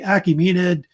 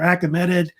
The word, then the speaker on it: Achaemenid: The one we're talking about is the Achaemenid or Achaemenid Empire. It's pronounced different ways, which existed in the Near East, which was founded in the 500s BC.